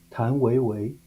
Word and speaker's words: 谭维维: Tan Weiwei. Tang Weiwei?